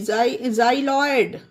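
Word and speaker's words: xyloid: ये देखिए एक्स वाई एल ओ आई डी जाइ लॉयड जाइ लॉयड एक्स को जा पढ़ा गया उसी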